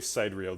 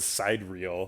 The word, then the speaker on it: sidereal: sun 20 times that that word is spelled side real so i always have trouble saying it out loud but it's pronounced sidereal